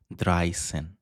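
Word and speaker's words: dreizehn: dry sen.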